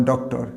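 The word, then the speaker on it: doctor: No, this is নট ডক্টর। কি উচ্চারণ হবে? ইয়েস, শেষের আরটা সাইলেন্ট হবে, ডক্টর।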